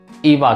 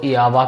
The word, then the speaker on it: Iava: इसको प्रोनाउंस कैसे करें मैक्सिमम मास्टर इसको इ आवा कहते हैं क्योंकि जैसे मैंने कहा कि लावा नाम भी फेमस है और इवा नाम भी